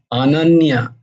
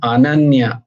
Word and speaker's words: अनन्य: अपि चेत् अनन्यश्चिन्तयन्तु मां येन पर्युपासते অনন্য নয় অনন্য অনন্য তো নয় অনন্য নয় আ আ অ্যাকচুয়ালি কথাটা হচ্ছে অনন্য অনন্য সংস্কৃতে উচ্চারণে অ এর উচ্চারণটা আ হয় অ নয়